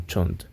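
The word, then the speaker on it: shunt: en derivación verdad o en inglés que es pronunciado como chont en un motor de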